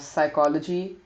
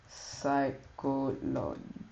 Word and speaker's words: psychology: salum salum you have psychology psychology we have psychology so most of these words are followed by um like most of the silent P's are followed by um s so and then we